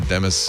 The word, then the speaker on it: Demis: So he pronounces it Demis.